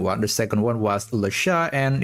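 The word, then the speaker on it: Le Chat: For example, the leat name is actually pronounced lash and this is the correct uh phonetic pronunciation according to this answer from perplexity.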